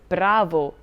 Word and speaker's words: bravo: will receive the stress this rule is also true in two syllable words such as vero true bravo good and cordo for short